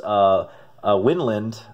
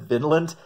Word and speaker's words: Vinland: time, into Norse Winland, which I didn't know it's actually pronounced Winland according to the information back here. I always said Vinland, that because it reminds me of Vinland Saga, the manga, and I've always pronounced it that way, but I guess I was 100% wrong.